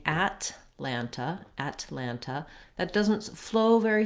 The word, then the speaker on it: Atlanta: ah any any longer it's not at atlanta but rather atlanta atlanta so that first vowel is very reduced very short may mean